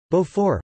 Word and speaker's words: Beaufort: Beaufort, French pronunciation, Beau, F, is a firm, raw cow's milk cheese associated with the Gruyère family.